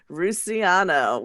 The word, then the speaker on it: Russiano: Russiano, which is Russian with an O at the end.